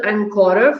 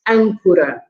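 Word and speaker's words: âncora: of action but when when an accent is on a letter it means that you have to stress the word there right so um it's not the encoder for example but it's ankura all right and we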